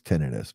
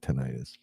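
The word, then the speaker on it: tinnitus: Um but I have tinidis or tonitis, however you want to pronounce it. I think the official proper is tenidis but I call it tenitis.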